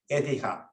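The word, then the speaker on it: Écija: We call it Ecija, not Ecija, but in proper Spanish, Ecija, on accent on the first syllable.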